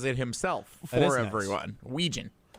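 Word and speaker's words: Wetjen: Phonetically, it's Wetin, but it's Ouijan. It Yes, he on the Iowa football website. Very nice of them. He pronounces it himself for everyone. Ouijan.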